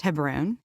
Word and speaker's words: Hebron: most of your life the city is actually pronounced Hebron and the reason I feel like I'm cheating